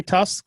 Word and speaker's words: TUSC: and he runs a tusk coin is that how you say it we just say tusk which stands for the